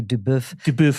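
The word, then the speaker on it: duBoef: actually like I mean if you say it properly dub it sounds a little bit like um a cut of meat Todd Deb I'll take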